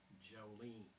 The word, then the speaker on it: Jolene: Oh, You can say it like this. Jolene.